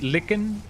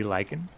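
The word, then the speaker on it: Lycan: Do you guys say licken or lyken? I guess the correct pronunciation would be lykan.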